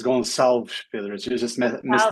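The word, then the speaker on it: Gonçalves: I was trying so hard that I think I just absolutely messed it up. It was very close, though. It was Goncalves Pedro.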